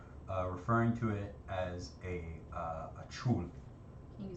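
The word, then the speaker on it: chuul: in suspended animation, referring to it as a chul. Can you spell it for me?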